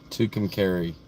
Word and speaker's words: Tucumcari: Tucumcari.